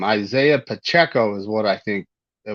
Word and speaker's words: Isaiah Pacheco: Isaiah Pacheco is what I think it would actually be pronounced as.